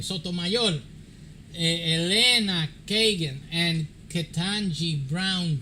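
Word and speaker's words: Sotomayor: Sonia, Sonia, Stomayor. That that's the way you say her name. Spanish, the Spanish name. Stoayol Elena Kagan and Katanji Brown Jackson desented.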